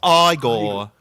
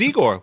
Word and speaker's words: Igor: No, no, it's pronounced Igore. They told me it was Eigor.